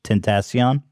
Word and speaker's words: Tentacion: how does he say his name xxx tentace tentacion right yeah so anyway he passed away he